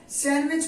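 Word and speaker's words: sandwich: हो गया सैंडविच अब इसे सेंड बीच ना करके इसे कहा जाता है सैंडविच दी इस पर साइलेंट है सैंडविच पढ़ा जाता है प्लंबर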